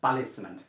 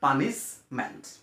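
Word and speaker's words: punishment: হনু বলে পাওয়া যায় পালিশমেন্ট তো পালিশমেন্ট না হয় পালিশমেন্ট গুলি কোন ওয়ার্ড নাই এই পালিশমেন্টের কোন শব্দই নাই পালিশমেন্ট না হয় এটা হইছে পানিশমেন্ট আর 12 নম্বর যেটা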